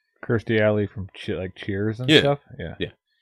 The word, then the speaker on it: Kirstie Alley: from Cheers his name it's not Christy Ali it is Kirstie Alley and if anybody doesn't know what Christy Ali is she used to be super hot right Kirstie Alley from Cheers yeah yeah